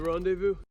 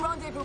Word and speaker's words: rendezvous: that are not pronounced the s on the end is not pronounced as well and o u is pronounced as u so it's random you know the coordinates for the rendezvous approaching rendezvous point and when there